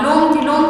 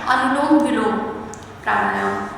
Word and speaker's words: अनुलोम विलोम प्राणायाम: कुछ लोग इसका उच्चारण ही गलत तरीके से करते हैं, कुछ लोग इसको लोम विलोम के नाम से जानते हैं, लेकिन इसका सही उच्चारण होता है अनुलोम विलोम प्राणायाम।